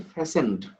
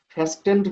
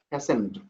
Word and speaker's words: fastened: উচ্চারণ হচ্ছে ফ্যাসেন্ড, ফ্যাস্টেন্ড না, কিন্তু ফ্যাসেন, ফ্যাসেন্ড, টি এর উচ্চারণ হয় না।